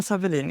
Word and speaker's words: Sawelin: Savin is my I pronounce it in Swedish.